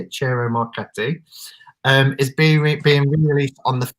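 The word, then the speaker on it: Ciro Marchetti: tarot deck by Cero, I always get his name wrong, Cero Marchetti, that's how you say it, Cero Marchetti, is being re-released on the 1st of May, which is Friday, isn't it?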